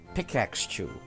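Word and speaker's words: Pikachu: hard to pronounce pickaxe chew I just finished pronouncing the word ax and then I immediately go into chew all right that's why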